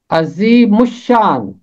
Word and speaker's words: عظیم الشان: کر پڑھا جائے گا۔ عزی پہلا حصہ میم ملے گا شین کے ساتھ، مش، اور آگے پھر تیسرا حصہ ہوگا شان۔ اس کا تلفظ ہے عظیم الشان، عظیم الشان، عظیم الشان۔ اگر آپ اس کے علاوہ اس کا کوئی تلفظ کرتے ہیں یا سنتے ہیں وہ درست نہیں ہے۔ حوالہ ہے، ضرور ہے